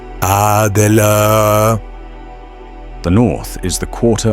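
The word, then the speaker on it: AGLA: Then point into the center with the tip of the dagger and pronounce a g a in this way. Adela the north is the quarter of the element of earth.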